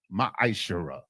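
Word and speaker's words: מעשר: verses 8 through 10 means 10th in the hebrew and is pronounced maisha 10 of every penny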